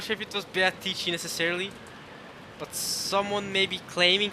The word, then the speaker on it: Beatrice: I'm not sure if it was Beatrice necessarily, but someone maybe claiming to be Beatrice.